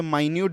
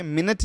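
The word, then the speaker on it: minute: अच्छा, माइन्यूट जो है यहाँ पे, इसको हम लोग यहाँ पे माइन्यूट बोलेंगे, ओके, मिनट नहीं बोलेंगे।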